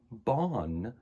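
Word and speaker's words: Ban: The cat's name was spelled B-A-N, but it's pronounced Bon if you're actually Irish and actually speak Irish.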